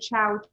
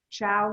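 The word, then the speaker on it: Chao: So this was the chow cheese. It's spelled C-H-A-O.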